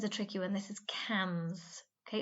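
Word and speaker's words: quinze: this one is a tricky one this is cams okay it's spelt q-u-i-n-z-e people often say quinn's but remember that's pronounced cams okay so 30 we used to saw is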